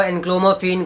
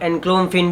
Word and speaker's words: enclomiphene: कुछ लोग इसको एनक्लोमिफेन, कुछ लोग एनक्लोमिफेन भी बोलते हैं, वो आपके ऊपर आप किस तरह से प्रोनाउंस कर रहे हो।